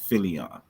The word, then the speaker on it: Philion: Everybody calls him Phylon, but it's Philion. If you actually look at it, it's Philion. Philion.